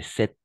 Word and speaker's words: cet: excellent et attention et cette septembre oui c'est bizarre mais on va prononcer toujours le thé à la fin cet homme d'accord est-ce